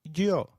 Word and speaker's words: yo: The Y is pronounced like the English Y in some areas, sounding just as it would in English, while in others it takes up the sound of the English letter J.